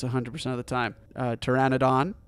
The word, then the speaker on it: Pteranodon: of the time uh Pteranodon the p is silent uh Dilophosaurus actually yeah I'm pretty sure the PE silent and Pteranodon I feel like yeah